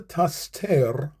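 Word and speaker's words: תַסְתֵּר: Al tastir panekha mimeni. Al tat be'af avdekha ezrati hayita. Al tastir panekha mimeni. Al tat be'af avdekha ezrati hayita. Al al tas tir. Two syllables. Tas tir. Tastir. Al tastir panekha.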